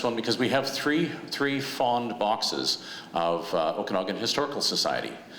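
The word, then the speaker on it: fonds: Fond, actually be fond, because it's French, okay? So those that know French, there's no vowel afterwards, so you don't pronounce it, but we call it fond.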